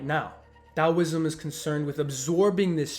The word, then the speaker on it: Taoism: Taoism is spelled with a T, but it's pronounced with a D, Taoism, and Qigong is spelled with a Q, but it's obviously pronounced Qi.